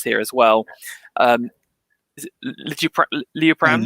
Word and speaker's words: Liutprand: Is it Liutprand? Liutprand, yeah, of Cremona, yeah, Liutprand.